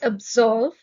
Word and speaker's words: absolve: with a sound it's absolve the stress is on the second syllable to absolve means to